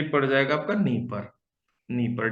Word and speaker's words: Dnieper: और the largest river of Ukraine, तो ये जो लार्जेस्ट रिवर ऑफ यूक्रेन है ये पड़ जाएगा आपका नीपर, नीपर, DNIEPER, नीपर silent है।